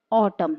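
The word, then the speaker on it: autumn: अब यहाँ पर देखिए, इस ट्रिक को अगर इस पे अप्लाई करते हैं तो इस वर्ड को आप कैसे पढ़ेंगे, ऑटम। एन साइलेंट रहेगा, ऑटम।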